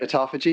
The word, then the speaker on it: autophagy: I think it's autophagy. Is that right? Autophagy. Yeah.